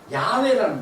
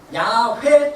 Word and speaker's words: 야훼: 이 원래 그 히브리어로 봤을 때 여호와는 야훼라는 말이에요. 야훼 또는 야훼. 이게 왜 발음이 정확하지 않냐면 히브리어에는요 모음이 없어요. 자음만 있어요.